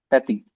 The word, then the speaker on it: petits: petits petits Yeah, we don't change the pronunciation because of the S.